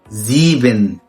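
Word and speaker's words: sieben: المقطع المشابه ليه بعد كده مقطع الاي اي بس بتنطق اي عادي. zum Beispiel زيبن يعني 7.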